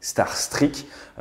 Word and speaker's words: Starstreak: ukraine d'un missiles starstreak l'info j'ai pas de star trek mais la prononciation exacte c'est starstreak il ya quand même